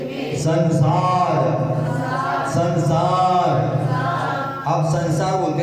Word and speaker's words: संसार: अब संसार का ऊपर की बिंदी का उच्चार करो, उच्चारण हटा दिए, ऊपर की बिंदी का क्या हो जाएगा? ससार, ससार हो जाएगा। ससार का कोई अर्थ नहीं होता है।